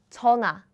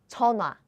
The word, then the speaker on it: 전화: In daily life, we pronounce it like 전화, 전화, phone.